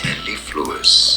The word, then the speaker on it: mellifluous: Mellifluous.